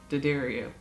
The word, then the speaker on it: D'Addario: Jim D'Addario says D'Addario. So the guy whose name is the company's name and runs the company probably knows how his name is pronounced.